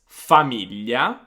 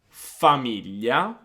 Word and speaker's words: famiglia: then we're going to listen to Gaia that pronounced these words for us. So we've got the words famiglia, famiglia, figlio, figlio, foglia, foglia, maglietta, maglietta.